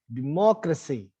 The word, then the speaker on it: democracy: So it means that you need to put extra energy on pronouncing the ma syllable aloud, right? Democracy.